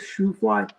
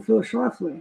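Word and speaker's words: Schlafly: mean, the fact that how Archie would always mispronounce Phil Schlafley's name and call him Phyis Shoefly, that was just mocking Phley, you know.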